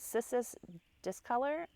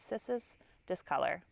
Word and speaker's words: Cissus discolor: This is a trailing Rex begonia or vining Rex begonia, and its actual name is Cissus discolor, I believe is how you say it, Cissus discolor.